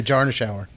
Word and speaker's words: Jarschauer: part of the work that we do, Jarschauer. Did I pronounce that right? I always get your name wrong. Exactly, like a Jarschauer.